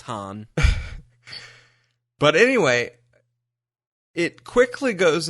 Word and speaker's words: Han: wife, so I mean, you'd think she'd know how to pronounce his name. You'd think he'd correct them too. Like, Right. Guys, it's Han.